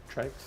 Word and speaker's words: TRYX: to them and it's Trikes. Okay, so it's dual 120. Not quite one. It's pronounced No, it's No, it is pronounced trikes. It's not Trixs.